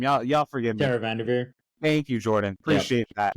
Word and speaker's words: VanDerveer: I forget how to pronounce her name. Y'all forgive me. Tara Vanderveer.